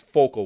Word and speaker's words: focal: Like right there, it wasn't vocal point; it's focal with an F.